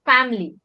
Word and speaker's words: family: I is silent. Family.